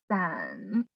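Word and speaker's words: 伞: San, but it with tones. The third tone, san, san, sounds like the word for breaking up. San, san. You can see that it written in the same pinyin, but different tones, right? This one is a third tone, san, and this one is a fourth tone, san.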